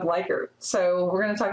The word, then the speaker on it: Likert: I've actually heard some people say that the psychologist for whom this is named actually pronounced his name Likert, but I think that sounds weird, so we're going to go with Likert.